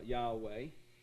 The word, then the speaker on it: Yahweh: so there's there's the father's name and we pronounce it uh yahweh all right now here's here's another word this